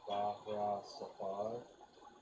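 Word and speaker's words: Vajra Safahr: We have heard from our inner circles that, so this is spelled Bajra, and then the second name is Safhar, Bahra Safar.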